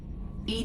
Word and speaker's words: EDI: name stand for why are you named Ed Ed is the phonetic pronunciation of Ed that is an acronym for